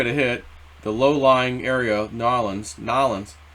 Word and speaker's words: New Orleans: hit, the low-lying area, Nolens. You gotta say it like an OG, not New Orleans, Nolens.